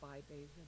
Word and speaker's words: Bybeza: Well, thank you for the pronunciation. You did very well. N-E-O-L-A. Last name is Bybeza, B-Y-E-B-E-Z-A.